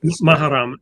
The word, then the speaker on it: Muharram: world were entering the first days of, I'll pronounce it incorrectly, Muharram, Mahram, right. Muharram, and approaching Ashura.